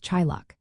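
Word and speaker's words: teaghlach: The first word is tiglatch which is pronounced approximately as chillock.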